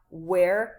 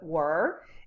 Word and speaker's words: were: forms was or were pay attention to the pronunciation of the verb because it's not where but were and here we have